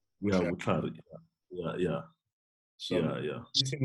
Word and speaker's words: Vutlhari: To just correct me on the pronunciation. Vutlhari. Yeah, Vutlhari.